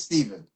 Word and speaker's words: Stephen: I mean, you say Stephan. I'm like, okay. It's Stephen.